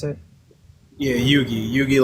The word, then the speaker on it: Yugi: I think it was Yuji. What's up, Yuji? Is that how you pronounce it? Yeah, Yugi.